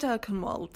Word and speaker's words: Erkenwald: I'm glad you said Erkenwald, so now I know how to pronounce it.